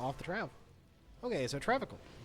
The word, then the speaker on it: Travincal: Okay, so Travincal. There's an N in this?